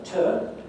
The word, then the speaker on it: to: So the moral is, suppose you want to say something that contains a ter, then say a ter, say a proper schwa. Don't change it to u.